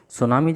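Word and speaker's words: tsunami: Okay, सुनामी जो word है ना, आप देखेंगे टी आगे लगा हुआ है, तो टी साइलेंट है, इजंट इट।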